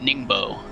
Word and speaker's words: Ningbo: be the fourth we'll be going to uh ningbo i believe is how you pronounce that track but almost almost halfway through